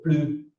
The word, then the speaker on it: plus: Alors, quand l'adverbe plus a un sens négatif, c'est-à-dire qu'il exprime une négation, né, um sentido negativo, aí não pronunciamos o S. Exemple, Paul finit son verre de vin. Il n'en veut plus. Não uso S. Il n'en veut plus. Il a assez bu, bebeu demais. Là, on ne prononce pas le S.